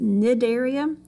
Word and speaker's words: Cnidaria: Cnidaria, it's spelled with a C, but you pronounce it Cnidaria.